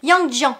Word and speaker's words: Yang Jian: Je crois que ça se prononce pas comme ça, il s'appelle Yang Jian.